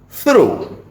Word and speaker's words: through: And then we have this, through. He passed through the market. So you see, yeah, GH pronounced in different ways in different situations.